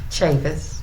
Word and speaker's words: Chavous: And I'm at the Louisville office conducting an interview with Colonel, you pronounce your name Chavous? Chavous.